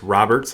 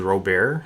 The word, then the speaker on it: Robert: and i guess we've been uh pronouncing luis luis robert's last name wrong everyone was saying was robert and the announcers are saying robert so i'm i'm going to call him robert from now on at